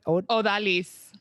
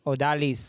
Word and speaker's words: Odalys: uh how do you say your first name odalay odalis odalis odalis yeah oh that jasmine either one go